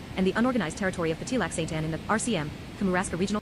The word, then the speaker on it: Petit Lac Sainte-Anne: Petit Lac Sainte-Anne, French pronunciation, Petit Lac Sainte-Anne, is an unorganized territory in the Canadian province of Quebec, located in the Kamouraska Regional County Municipality.